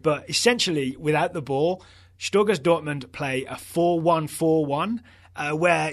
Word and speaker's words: Stöger: It's O with an umlaut, right, which is Stöger.